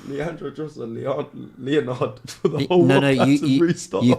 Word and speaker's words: Leandro: Oh, names you butchered. Yeah, Leandro. You said two different things in one. I had to just do What did you say? I called him like Leonardo.